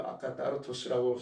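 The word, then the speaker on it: ἀκάθαρτος: 이걸 갖다가 아카달토스, 아카따르토스. TH 발음인데요. 우리말로 이렇게 써야 되겠죠. 아카따르토스라고 쓸 수밖에 없네요.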